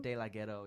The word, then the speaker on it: De Laghetto: with yeah what how do you say it della ghetto de la ghetto yeah well first of all that's not your